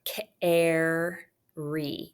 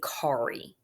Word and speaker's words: carry: If the R is followed by another R, the preceding vowel is often short, like in the word carry. Even though you have a vowel followed by an R, we don't say kari.